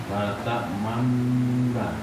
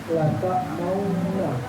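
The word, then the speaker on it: لا تأمنا: La ta'mauna. Man bukan maun ya. Manna. Coba antum baca manna.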